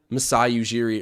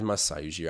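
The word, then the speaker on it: Masai Ujiri: never can understand what messiah yujiri or masayu i guess more accurately nick nurse is gonna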